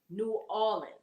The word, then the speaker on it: New Orleans: new orleans yeah because it's making me roll my uh the r it's but it's not an r it's say it as a an aw new orleans new orleans there you